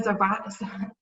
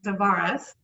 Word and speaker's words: Zavaras: then you've got a zebra i always say your name wrong again you've got zavaras there we go uh coming to us